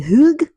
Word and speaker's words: hygge: I'm pronouncing it correctly. Hygge, Hygge, Hygge, Hygge.